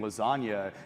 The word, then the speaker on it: lasagna: quite clear that the the g in lasagna is silent and therefore it's silent